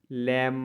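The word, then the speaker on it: lamb: बीटी ट मतलब रन एम के बाद अगर बी आ है तो भी हम लोग बी को साइलेंट पढ़ते हैं जैसे टी एच यू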